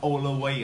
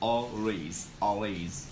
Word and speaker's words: always: Guys, just remember that we pronounce always, two syllable only, okay? Do not pronounce something like all the way or something like that. Actually, it's pronounced always, okay? Always.